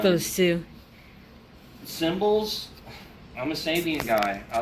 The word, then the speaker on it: Sabian: thicker for some reason i kept pronouncing sabian saban for some reason i never really looked at the name though it's a bomb no i know it's sabian but um vader drumsticks hand